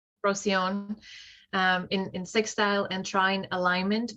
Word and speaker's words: Procyon: How do you pronounce it? Procyon. Procyon.